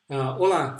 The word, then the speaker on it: hola: keep saying hola remember hola Cedric remember that we don't pronounce that H in Spanish so whatever you see this here they're going to read it as if there was no age there so you'll pronounce just